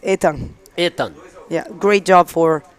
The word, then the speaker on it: Ethan: We were calling him Ethan, but in French it's Ethan.